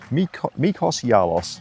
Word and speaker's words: Mikros Gialos: Mikros Gialos, I think is how you pronounce it.